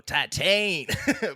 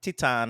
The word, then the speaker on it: Titane: of me that wants to just go tatan but it's not uh yeah Titan I think is the correct or close enough pronunciation I'm sure native French speakers will hate the way that we're pronouncing it but at least we're trying and we're not going full just obnoxious American titane yeah we can do